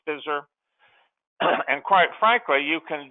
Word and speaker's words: FSSR: program called Financial Strategies for Successful Retirement, FSSR, pronounced FISR.